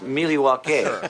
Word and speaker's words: Milwaukee: very it's a very good place actually it's pronounced milwaukee which is algonquin for the good land very